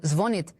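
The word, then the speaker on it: звонит: Earlier, the same institute stated that the stress in the word zvonit will in the future fall on the first syllable.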